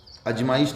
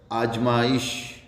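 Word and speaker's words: आज़माइश: अजमाइश, अजमाइश नहीं हुआ, ये उर्दू का शब्द है, आजमाइश, आजमाइश।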